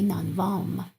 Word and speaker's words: نانوایم: We say نانوام. We don't pronounce ye.